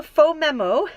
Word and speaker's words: Phomemo: little wireless printer so I've got this little faux memo which is that's how you pronounce the by the way I had to